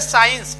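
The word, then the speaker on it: science: के पहले भी साइलेंट हो जाएगा तो सी साइलेंट रहता है जैसे साइंस एस सी तो यहां पर एस के बाद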